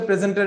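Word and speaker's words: present: আমি আপনাদেরকে বলে দিচ্ছি, প্রেজেন্ট যদি নাউন হিসেবে হয় সেটার উচ্চারণ হবে প্রেজেন্ট, প্রেজেন্ট। আর যদি এটা গিফট হিসেবে আপনি বুঝান, কাউকে প্রেজেন্ট দিচ্ছেন, সেক্ষেত্রে এটার উচ্চারণ হবে প্রেজেন্ট, প্রেজেন্ট। SENT এর মধ্যে একটা জোর দিতে হবে। আর যখন নাউন হিসেবে বলবেন তখন প্রেজেন্ট সিম্পলি বলে দিবেন।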